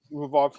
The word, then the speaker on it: Imavov: I'm pronouncing it correctly, Marcel. Imavov.